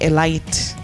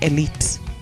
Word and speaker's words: elite: your composure check pronunciation we don't say a light okay we say elite okay so that confuses